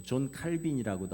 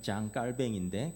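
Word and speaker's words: Jean Calvin: 아 뭐 존 칼빈이라고도 하고 원래 이분이 이제 발음은 정확한 발음은 장 깔뱅인데 깔뱅은 우리 장로교회 아버지입니다.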